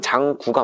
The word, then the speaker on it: 장구: 장구가 장고죠? 한자로는 장고라고 돼요. 왜냐면 북고라는 말이 있기 때문에 장고가 많은데, 왜 우리가 그리고 하는데 그리구 이렇게 발음하는 분들 있잖아요. 그러니까 장구라고 많이 발음하다 보니까 현재 표준어는 장구가 맞습니다.